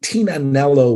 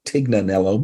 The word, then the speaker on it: Tignanello: we got married in a uh in a overlooking a Vineyard where the antonari family invented Tina nello wine most people call it Tignanello but the g is silent right and we had